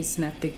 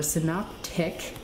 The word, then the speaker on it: synoptic: how to build a synaptic scarab, or synoptic. Say it right, Alexis. Synoptic, not synaptic. Synoptic is Necron. Synaptic is Tyranids.